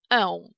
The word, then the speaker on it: ę: Эносове и оносове, вот, произношение начинается с гласных э, да, и о, соответственно, и чуть позже у нас появляется носовой призвук н.